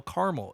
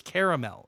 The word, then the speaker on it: caramel: I don't like when people pronounce caramel caramel. It's caramel. It's got a second A in there.